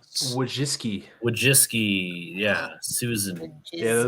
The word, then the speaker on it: Wojcicki: Wojcicki.